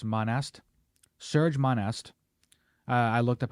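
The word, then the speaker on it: Serge Monast: world's governments I'm probably going to get his name wrong but Serge Monistat it's not actually Monistat it's monest Serge monest I looked up how to pronounce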